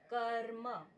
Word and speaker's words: कर्म: जैसे कर्म इस अकार के बाद में र बोला जाएगा।